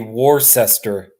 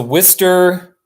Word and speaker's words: Worcester: thing is I mean phonetically it should be war sester but I know it's it's not like that I sound like a stupid American or it's a Worcester Worcester is a city